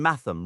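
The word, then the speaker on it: mathom: For instance, the name Bulier uses a g sound as in the word bulge and matam rhymes with fathom.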